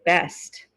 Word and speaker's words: best: best he's the best then you're gonna hear the t sound but if you use it in the middle okay of the sentence the t sound's gonna disappear are you sure he's